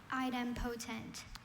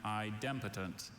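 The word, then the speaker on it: idempotent: Item potent. Item potent. Item potent. Are there any alternate pronunciations? I have item potent and idotent.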